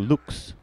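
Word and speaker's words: Luchs: Got to do the hard U, Lux, Lux.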